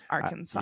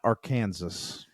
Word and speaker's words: Arkansas: because of this um it is illegal to mispronounce the name of the State Arkansas yeah I see that it has to be Arkansas yeah not Aransas oh my gosh or Aransas yes really I have heard